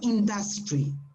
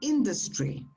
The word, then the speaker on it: industry: accents the the the it's not industry no it's on the first syllable the apostrophe is before the eye so it's industry industry you see yeah